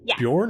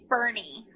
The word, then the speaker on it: Boerne: of where you live is it Bjorn or is it Bourne it's Bernie Bernie in Bernie okay so you're in Bernie I'll tell you I'll tell you yes it's Bernie so it's German um